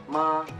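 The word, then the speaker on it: 妈: Jadi kalau intonasi pertama itu biasanya agak datar dia pengucapannya. Misalnya ma.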